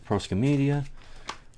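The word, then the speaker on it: Proskomedia: Okay, so we got the Proscomedia, or Proscomedi, depending on what pronunciation and spelling you're using. Okay, Divine Liturgy, here we go.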